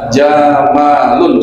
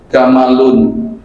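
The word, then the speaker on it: جمل: domain Lun Bacanya apa jamalun coba semu jamalun orang Arab orang Mesir bisa bahasa Arab enggak bisa nyebut jamalun gamalun gamalun makanya presidennya Gamal Abdul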